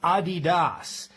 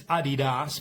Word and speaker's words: Adidas: Actually, Adidas is pronounced Adidas. That's the correct pronunciation. I've never heard anybody use Adidas, but that is the correct pronunciation.